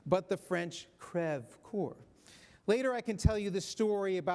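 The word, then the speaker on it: Creve Coeur: which Lok Dubois is located is pronounced not pronounced as we do Creve core but the French crev Corps later I can tell you the story about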